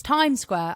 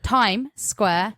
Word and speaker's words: Times Square: no s there is there's two s's yeah as in it's Times Square I don't think people